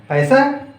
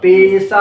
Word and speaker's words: पेशा: और बोले प्रबंध एक पैसा नहीं है, पैसा बोलने पर उच्चारण पर ध्यान दो। तो पेशा है, पेशा है, प्रोफेशन, ऑक्यूपेशन भी बोलते हैं, ठीक ना।